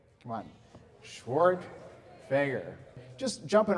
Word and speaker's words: Schwerdtfeger: who are curious uh my last name is pronounced schwart fager come on schwart fager just jumping right in